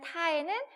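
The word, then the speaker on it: 他: 하지만 말할 땐 똑같아요. 타, 그죠? 타라고 읽어요.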